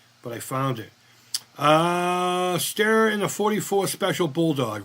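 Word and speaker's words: Steyr: Uh, stare in the 44 special bulldog. Right on. Yep. Styer. It's pronounced styr, right? Even though it's an E.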